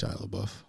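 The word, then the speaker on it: LaBeouf: I think it's Shalabuff.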